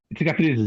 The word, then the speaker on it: Cicatrizes: Well, I mean, well, if we take, let's see if I can pronounce this correctly, the sort of title track, CICATRIZES. CICATRIZES, yeah.